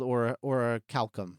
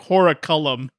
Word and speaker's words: orichalcum: It is called orichalcum. Orichalcum. I wasn't right. I said Oh. I said like Horicellum. Oh. Well, maybe I'm pronouncing it wrong. That's entirely possible. Say it again. Say it one more time. I think it's orichalcum. I think Orichalcum with an O.